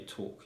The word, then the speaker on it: talk: knew how to say talk you know i know how to not pronounce the l so yeah sometimes not